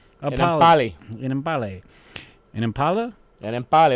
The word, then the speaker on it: Enemkpali: Pronounced Enemkpali. Enemkpali.